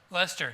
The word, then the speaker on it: Leicester: Leicester. Thank you. I tried. I knew he left some syllables out there.